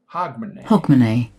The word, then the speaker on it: Hogmanay: Accent is on the first syllable.